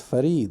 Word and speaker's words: Farid: a common name and the way to pronounce it is fared right and so so